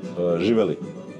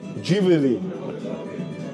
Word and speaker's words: Živjeli: and cheers how you say cheers in Serbia Juel Juel was good pronounce not do nu Är frukosten